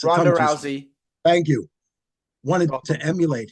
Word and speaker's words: Rousey: the fact that Ronda Ronda Rousey how you pronounce her name gez it's Rousey thank you wanted to emulate him um you